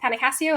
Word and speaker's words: Panio: find me at panio on pretty much everything uh spelled like window pane Casio watch uh for people who